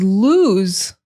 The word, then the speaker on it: lose: But the word lose only has one O, and it has that hard S. Lose.